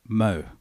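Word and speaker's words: MHO: It's pronounced Mo, M-H-O, but it's pronounced Mo.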